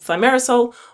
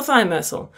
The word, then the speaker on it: Thimerosal: Off the anti-vax bandwagon, I want to address the terrifying molecule called Thimerosal or Thimerosal. Those two pronunciations are fine, and I'll swap between the two just to confuse you.